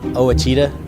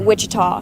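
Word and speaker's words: Ouachita: I've heard people say Oita oh a Oita pronounce Oita searching for Baptist University back in Texas everybody pronounces it Witchita but really it's was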